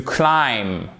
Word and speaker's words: climb: Vous voyez, vous ne prononcez pas le B. Et come. Le peigne et pas écombe. Non, écombe. To climb.